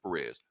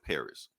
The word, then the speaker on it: Pérez: heard him say George Paris you know yeah uh We're not gonna do a long I think he supposed to roll the r Perez oh yeah uh yes